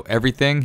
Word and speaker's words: everything: have TH in it, he pronounces it with an F. So everything, he goes everything.